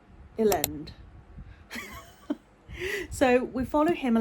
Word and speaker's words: Elend: It's like Lend with an E at the front. Elend.